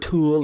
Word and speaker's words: Thule: Thule. Oh, Thule, yeah, okay. Yeah. Is that how you pronounce it? Yeah. Yeah. I've heard Tool or Thule, but yeah, Thule. Yeah. Thule's how us Americans say it.